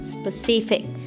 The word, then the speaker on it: specific: So many of my students pronounce this word wrong. It's not spare, it's a specific.